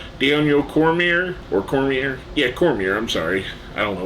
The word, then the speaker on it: Cormier: special guest referee Daniel Cormier or Cormier yeah Cormier I'm sorry I don't know why I pronounced it wrong there we have Matt riddle